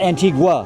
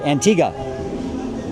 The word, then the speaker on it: Antigua: Antigua. Not Antigua. Sorry. Antigga. Don't pronounce the U.